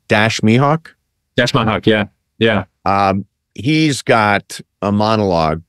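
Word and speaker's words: Dash Mihok: You have a great ensemble cast, and I think his name, I think I'm pronouncing it right, Dash Mihawk. Dash Mihawk, yeah.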